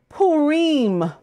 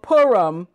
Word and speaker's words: Purim: You can pronounce this name many ways. In Eastern tradition, it is called Purim. Among Westerners, it is called Purim. Some Central European communities even call it Pirim or Pirim.